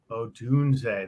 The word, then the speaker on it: Odunze: Odunze. That's how you say it.